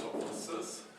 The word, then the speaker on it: toposes: Some people say toposes, and other people say topoi. And I was being told by a native speaker, Greek native speaker, that the modern pronunciation would be topi. We would write it this way, but you would not pronounce it topoi, which sounds very ancient to a Greek person.